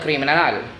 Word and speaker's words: criminal: animal the criminal el criminal the stress word in the last syllable of el animal el